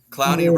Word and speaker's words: Clowney: Clowney rhymes with Brownie.